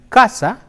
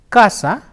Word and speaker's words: casa: the interdental sir the C can also be pronounced like her as an Casa c'est si ah Casa coach a say oh say hae Oh kuba